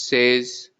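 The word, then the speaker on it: seize: 6 is sis, 16 is says, 60 is soixante.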